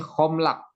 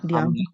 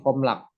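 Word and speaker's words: הָמְלַךְ: Ini bacanya, ini homlak. Ingat ya, bukan hamlak, tapi homlak.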